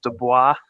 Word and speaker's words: Dubois: working that event and they told me it was pronounced dubois so i got the pronunciation wrong so yeah well i